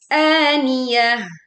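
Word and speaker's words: آنِيَةٍ: An dibaca sebagai dua huruf panjang. Aniahah. Ta marbutah dibaca sebagai wakaf seperti ha sukun.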